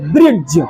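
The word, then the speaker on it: bridge: आर आई डी जी य होना चाहिए बच्चों ब्रिज क्या होना चाहिए ब्रिज क डी से ड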